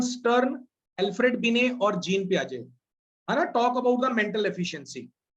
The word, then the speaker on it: Piaget: So it is called Piaget, pronounced as a Piaget.